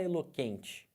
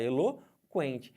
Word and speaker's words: eloquente: é dígrafo por quê Porque você fala o eloquente você não falar eloquente você fala Helô quente Então tem que o Porém você não vai ter esse que eu como dígrafo porque porque você pronunciou os dois se eu for olhar